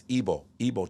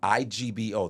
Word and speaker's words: Igbo: That's Igbo tribe. IGBO. The G is silent. Okay. Igbo, right? Igbo.